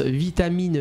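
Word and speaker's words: Vietamine: c'est l'association vitamine l'association comme ça se prononce vitamine V I e t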